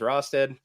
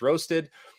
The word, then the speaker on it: Rostad: My last name is Rosted. Everybody has always mispronounced it is Roasted.